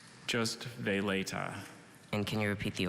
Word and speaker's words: veleta: during the regional competition are there any alternate pronunciations just they later and can you repeat the origin one more